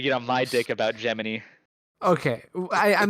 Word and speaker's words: Gemini: uh I forgot that that Gemini is not pronounced Gemini that's uh yeah you whatever okay my dick that's that's the yeah that's the Sonic if you're unaware that's the correct NASA pronunciation for the Gemini Miss pronunciation he can't